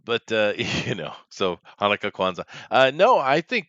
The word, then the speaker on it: Chanukah: chanukah that's a holiday that's usually pronounced hanukkah but i get you uh it's spelled tanuka buddy learn english that is true and then